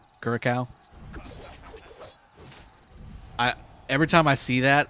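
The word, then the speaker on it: Curaçao: It's pronounced with a K. Curacao.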